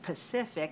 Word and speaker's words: Pacific: is a good one because specific and pacific have the same syllable stress code all right so i